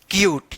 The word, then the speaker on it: cute: बाद से आप पढ़ेंगे क्यूट, ठीक है ना। तो ये रहा ई का अपना कोई ध्वनि नहीं, यानी ई तो रहेगा, उसका उच्चारण नहीं होगा, ठीक है ना।